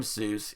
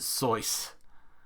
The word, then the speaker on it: Seuss: as this you're wrong as the deuce and you shouldn't rejoice if you're calling him seuss he pronounces it source nobody knows anything about